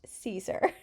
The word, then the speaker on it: Siser: pronouncing their name and it's definitely pronounced Caesar anyways I am almost